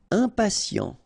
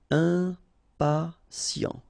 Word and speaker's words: impatient: Impatient. Okay, remember, final T not pronounced. And then you've got this T, I and a vowel, so sien. Sien. Impatient.